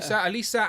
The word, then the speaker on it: Elisa: We've got I always say her name wrong. I want to say Elisa. Is it Elisa? That's right. Yeah. Elisa and Xanatos.